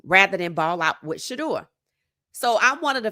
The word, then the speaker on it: Shedeur: Uh it seems like every time they try to get rid of Shador, and that's the proper way to say it, I didn't want you in the draft.